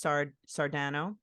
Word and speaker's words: Sardano: Could you please pronounce your last name, because I want to make sure it's Sardano. Am I saying it right? Sardano, perfect.